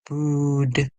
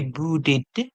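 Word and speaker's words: brewed: make t d or well in this word we are going to hear brood brood so the E will make make the D sound brood brood we cannot say brooded no we would not see boot boot boot no so we would not use the sound or the it sound let's repeat our word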